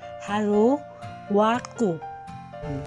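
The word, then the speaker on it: ハローワーク: Actually, it is Hello World, but since it is in Nihongo, it is pronounced as Haro Waku.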